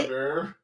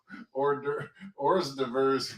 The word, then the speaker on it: hors d'oeuvre: Hors d'oeuvre. Yeah. Hors d'oeuvre is too fancy for me and my New Hampshire roots, babe. It was hors d'oeuvres for me for the longest time.